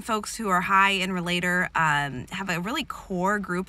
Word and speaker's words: relator: So today I'm going to be talking about the strength of relator, which is fun to mispronounce as realtor. Some people do that. So the definition of a relator: people who are especially talented in the relator theme enjoy close relationships with others.